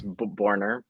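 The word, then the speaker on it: Boerner: Yeah, it's Borner.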